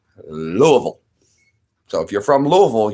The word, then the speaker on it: Louisville: Louisville now it is spelled Lewis it is pronounced Louisville we say Louisville so if you're from Louisville you know you